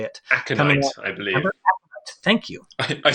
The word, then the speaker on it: Aconite: There's a KeyForge anthology coming out by Aconti Books. I'm not sure how to say it. Aconite, I believe.